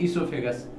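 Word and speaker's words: oesophagus: याद रखिएगा ओ साइलेंट है, इसे हम लोग पढ़ते हैं ईसोफेगस।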